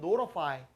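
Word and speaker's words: notify: 비었음이 있습니다 어떻게 들렸어 원래 말하면 노티파이인데요 이제 통제하다 알려주는 겁니다 그런데 발음은 노로파이 노로파이 다시 한번 들어보세요 안내해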